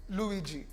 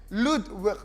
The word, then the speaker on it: Ludwig: Bridget, as well as Luigi. Did I say that correctly? Ludwig. Ludwig is the name.